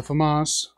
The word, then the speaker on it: FAMAS: I'm gonna go with the FAMAS or the FAMAS if you know how to pronounce it correctly is the FAMAS and what my magazine